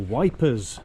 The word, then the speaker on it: Ypres: They struggle with the pronunciation of the E, the Y. And I guess with silent S so many just call it Wipers.